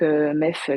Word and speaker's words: MEEF: Puis entamer un master MEF, donc MEF qui s'écrit MEEF, comme ça, je le mets dans le chat.